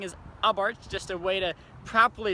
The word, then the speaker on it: Abarth: start off saying is I Bart's just a way to probably say this car a lot would say Abarth or something like that but the H is silent so it's actually Prince